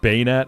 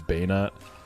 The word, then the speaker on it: bayonet: Banet is bayonet, I guess, which I recently learned is how you pronounce it. I've called it Bayeton my whole life. It's Bayonet.